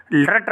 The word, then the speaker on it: लृट्: एक और लकार बचा हुआ है, बहुत प्रसिद्ध लकार है, लृट लकार कहते हैं इसको। लृट उच्चारण करने में प्रायः सभी छात्र गलती करते हैं, इसको लृट लकार कहते हैं।